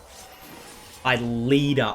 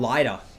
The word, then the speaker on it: LIDER: Leader. Dude, I used to call him LIDER.